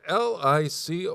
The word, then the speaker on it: licorice: licorice but it's spelled l-i-c-o-r-i-c-e how do you say that I mean licorice where in that look at that word h there's no sh in that word that's how I pronounce